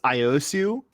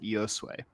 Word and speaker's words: Iosu: It's Iosu, but that's not how my ancestors pronounce it. They pronounce it Iosue.